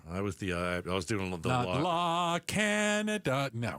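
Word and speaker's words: La Cañada: this and said, "Oh, La Canada, La Kenyatta." Oh, boy. La Kenyatta. I was the uh I was doing a little La Canada. No. Right. It's not La Canada. Okay. It's La Kenyatta.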